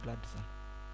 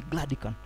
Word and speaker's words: Gladican: No, it's not Gladison, it can be pronounced as Gladican. Let me force everybody to say Gladican.